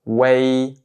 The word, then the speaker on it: uei: Donc ici, sa prononciation ça va être way way.